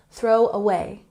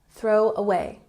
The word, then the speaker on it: throw away: number 15 we have throw away we emphasize the second syllable in a way throw away throw away this means that you